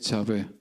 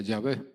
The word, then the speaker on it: Yahvé: Ahora bien, prácticamente todos los estudiosos modernos consideran que la pronunciación correcta es Yahvé.